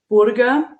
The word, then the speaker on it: Burger: seen my last name it's a burger for you but in germany it's called burger with an oo so it's kind of